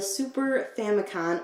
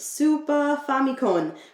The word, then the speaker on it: Super Famicom: cartridges are for the super famicon or more properly pronounced super famicom which is the japanese